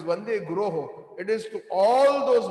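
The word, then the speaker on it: guroḥ: When we sing the Mangalarti, it is not Vande Guru Sri Charnarvindam. Some of us are mispronouncing. It is Vande Guroho.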